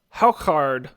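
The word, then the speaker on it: hákarl: myself eating it yeah yeah it is it's pronounced how card which is Icelandic for fermented shark it's the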